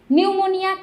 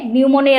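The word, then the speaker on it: pneumonia: তুমি যদি এন লিখে ফেলো তারপর উনারা দেখবেও না বুঝবে যে তুমি পারো না। কিন্তু যদি পি দাও তাহলে বুঝবে যে হ্যা ঠিক আছে। তাহলে সাইলেন্ট একটা পি থাকবে।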